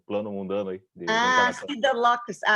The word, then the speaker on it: Siddha Loka: Siddha Loka, tá. Que eu entendi Siddha Louca, e por isso que eu não entendi.